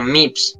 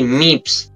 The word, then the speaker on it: MYVS: me dijo No mira se pronuncia tal se pronuncia mips No creo que es graduado en literatura y todo eso se pronuncia así mips y yo me quedo con ese que más